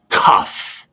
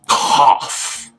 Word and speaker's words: cough: It's not cuff. It's cough. Cough. So what does O-U-G-H sound like in this word? Off.